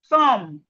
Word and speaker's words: thumb: So as we can see, whenever we see M and B in a word, the B is silent.